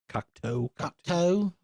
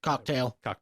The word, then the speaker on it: Cocteau: Cocteau. It's spelled French-ish, so... They call him Cocteau, so... Cocktail.